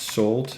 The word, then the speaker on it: Salt: So this is actually pronounced Salt.